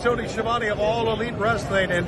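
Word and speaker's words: Schiavone: Hey everybody, it's Tony Siobhani of All Elite Wrestling, and this is True Heel Heat.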